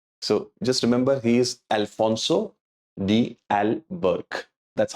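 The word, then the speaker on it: Afonso de Albuquerque: pronouncing his name so just remember he is Alfonso D Al Burke that's how we pronounce his name he initiated the policy of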